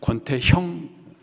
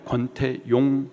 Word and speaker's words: 권태용: 권태용 집사님이 계십니다 예 발음을 좀 정확하게 잘하셔야 돼요 권태용 집사님 권태용 성도님 제가 가끔씩 깜짝깜짝 놀랐는데 권태형 권태형 아니고 권태용 선교사님 선교사님이 아주 너무 귀하신